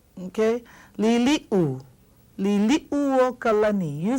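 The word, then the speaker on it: Liliʻuokalani: Now this is commonly mispronounced. Everyone says Liliuokalani. Liliuokalani. See this it gets left out. Okay? Liliu. Liliuokalani.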